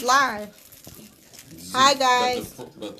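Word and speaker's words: Siech: Zeke. Zeke. Ooh, it's live. Zeke. Hi, guys. But it's spelled S-I-E-C-H.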